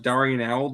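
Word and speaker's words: d'Arnaud: Darno with the home run. I love being an out late. That's what I love doing. Nick, his name is pronounced Darnell.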